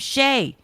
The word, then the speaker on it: Shea: She doesn't have to use Shay, but it's like Shay, and it's spelled the way the stadium is, S-H-E-A.